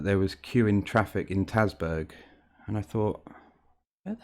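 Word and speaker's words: Tasburgh: the radio that there was queueing traffic in tasburg and i thought where the hell's tatsberg and then it dawned on me that they actually meant tays bro here's another classic norfolk village name again lon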